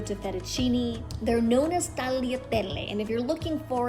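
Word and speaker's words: tagliatelle: it in the store that word is spelled with the g but because the g meets the l in italian whenever that happens the g then becomes silent so pronounced is what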